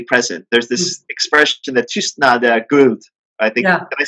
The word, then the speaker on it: tystnad är guld: There's this expression that tystnad är guld, I think. Yeah. Can I say it right? Tystnad är guld. Yeah, tystnad är guld.